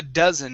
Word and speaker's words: dozen: three words here okay first up a dozen instead of a doe it's a a dozen a dozen very nice next